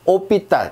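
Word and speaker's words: hôpital: 오삐딸 이렇게 합니다. 이게 호삐딸이 아니라 오삐딸이라고 하는 거예요.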